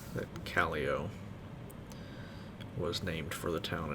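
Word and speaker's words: Callao: knows everything says that calio was named for the town in peru and even though it's spelled the same as that town it's not pronounced the same which should have been kayao but it's a tiny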